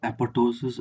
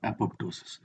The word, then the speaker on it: apoptosis: It could be pronounced as apoptosis or apoptosis. Actually, there is no consensus as to how to pronounce this as of now.